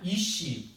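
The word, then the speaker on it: אִישׁ: 자, 히브리어로 남편은 이시라고 이렇게 읽는 겁니다. 이시.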